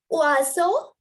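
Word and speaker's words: oiseaux: And then you have oiseau. Oiseau. X is silent.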